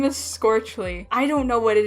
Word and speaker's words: Scorchle: Scorchle. Yes, that's how you pronounce it. Okay, like torch, scorch? Yes. Wow, that's mouthful. But Scorchle here is actually responsible